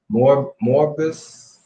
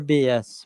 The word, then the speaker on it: Morbius: It's I think think it's spelled Morbus. Morbus. I think Oh, that's something. Morbius.